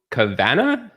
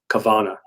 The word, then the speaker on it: Kavanagh: But when I went to visit Killarney in Ireland, they corrected me and says you would pronounce it Kavanagh.